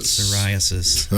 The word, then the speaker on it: psoriasis: Psoriasis. Psoriasis.